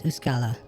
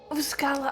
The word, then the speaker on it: Uskala: many a time that you're not pronouncing my name correctly anymore. My name is Uskala. Oh, Uskala.